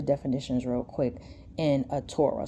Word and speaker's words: Torah: Let's look at some of the definitions real quick in a Torah. So phonetically, it would be Torah, T-O-R-A-Y. That would be the phonetic, right? The transliteration would be T-O-R-A-H. Yeah, T-O-R-A-H. Yep, Torah, right?